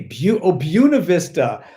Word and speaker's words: Buena Vista: Buena Vista. Like Bueno, bueno, but Bue would be Bu in English if you were pronouncing it English, right? Bu, like view.